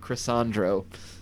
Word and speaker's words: Chrysandro: Chrysandro Williams, spelled like croissant, but Chrysandro. And yes, they of course are playing for the coveted 20-year-old Sony Walkman that makes everyone feel old.